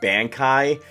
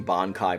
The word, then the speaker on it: Bankai: actually so funny because the AI doesn't how to properly pronounce Bank Kai it calls it like Bankai uh and it's you can tell because like all the other characters throughout the story mode are actually pronouncing Bon Kai properly but the AI can't seem to do it there's a lot of